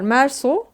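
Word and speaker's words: Meursault: ya bence romanında da ana karakter mersu mersu diye okunuyormuş Görünürde bir neden olmaksızın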